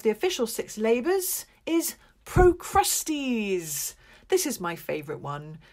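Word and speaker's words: Procrustes: official six labors is pro Krusty's this is my favorite one not just because his name sounds like the word crusty which is kind of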